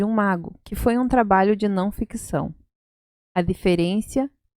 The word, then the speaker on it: trabalho: Então, a pronúncia é trabalho, trabalho, não ficção, no ficción.